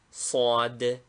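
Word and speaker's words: صاد: Name, Sad. Equivalent, S with a dot under it. Pronunciation, an S pronounced by placing the tongue against the side teeth and slightly opening the mouth.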